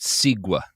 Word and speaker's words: segue: It's pronounced sigua.